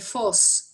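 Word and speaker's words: Vos: martín de voz de fos sería porque era flamenco martín con lo cual tendríamos que pronunciar la ve como efe martín de foxx martin de fos va a hacer los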